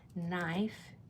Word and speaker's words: knife: In no or knife, you're only hearing the n, not the k.